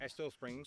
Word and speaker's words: Estill Springs: How do I pronounce it? Estill Yeah. Springs? Estill Springs. Estill Springs.